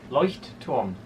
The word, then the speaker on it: Leuchtturm: Tobias, how do you pronounce this? Leuchtturm.